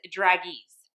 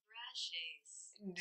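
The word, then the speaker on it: Dragées: This is the Maison Lancome Iris Draguise. Y'all, I'm gonna see how to pronounce that. Drages. Definitely not how I've been saying it.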